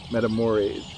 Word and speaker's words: Matamoros: And I'm going to go with the pronunciation of our local Channel 6 station, Matamoros, which is just over the border at Brownsville.